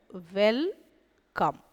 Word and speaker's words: welcome: அடுத்தது WELCOME. இங்கே மறுபடியும் பார்த்தீங்கன்னா ஈன்றது ஓசை இல்லாத எழுத்து, அவள் எழுதுவோம், ஆனால் அதுக்கான ஒலி எதுவும் கிடையாது. உவ், எ, இல், இக், ம், அ, ம். அப்போ பாருங்கள், வெல்கம், வெல்கம், வருக, நல்வரவு.